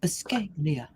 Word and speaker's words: Buscaglia: quote is from leo buscaglia the scaglia with gaeglia you have to say it like escaglia okay and this is seven